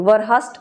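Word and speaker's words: Verhulst: इसकी डिस्कवरी की थी वर हस्ट आप हस्ट नहीं पढ़ सकते यहां पर एल क्या सा साइलेंट है तो इसी वजह से आप इसे व हस्ट पर्ल बोलेंगे ठीक है वर हस्ट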